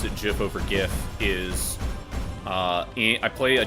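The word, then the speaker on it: giff: D lore called the GIF and it's spelled G I FF and it was always like with a hard G.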